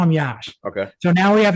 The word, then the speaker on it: Yash: That's how you pronounce his name. I call him Yash for short, Y-A-S-H.